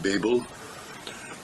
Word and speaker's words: Babel: I pronounce it Babel. I changed the pronunciation to Babel.